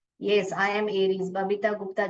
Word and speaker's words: Aries: यस, आई एम एरीज, Babita Gupta ji बता रहे, very good. एरीज spelling देख लीजिए, ARIES है। आपने जो टाइप किया, अराइज करके टाइप किया है।